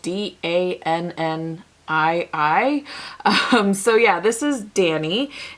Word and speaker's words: Dannii: This next polish is called Dannii, which by the way is spelled D-A-N-N-I-I.